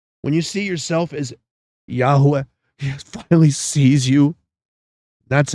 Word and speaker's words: Yahweh: When you see yourself as Yahweh, he finally sees you.